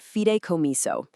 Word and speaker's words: fideicomiso: It's pronounced fideicomiso.